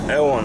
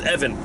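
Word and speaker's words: Euan: And his name is spelled E U A N. Ellen L. Ewan. I at first I thought it was Evan, but it was EU an So, thank you very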